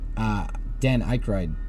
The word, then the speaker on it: Aykroyd: What if I told you that Dan Aykroyd Dan Aykroyd?